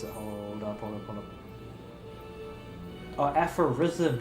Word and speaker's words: Aphorism: Aphorism, not Aphrodism. God damn, where'd the D come from?